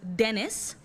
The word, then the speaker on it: Denis: that his name was Dennis pronounced like tennis but spelled like penis